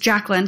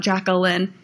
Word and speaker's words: Jacklyn: It's just Jacklyn. It's not Jacqueline.